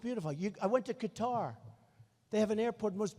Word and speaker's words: Qatar: the airport in Qatar which they say cutter I've always said Qatar so what the hell